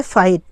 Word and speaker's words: fight: और एक है फाइट, FIGHT, इसमें भी वर्ड के लास्ट में GH आया है तो यहाँ पर फाइट पढ़ा जाएगा, FIGHT है तो फाइट, यानी GH साइलेंट हो गया है तो फाइट पढ़ा जाएगा, ठीक।